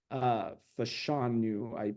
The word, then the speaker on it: Fashanu: Fashanu, I believe is how you pronounce his last name.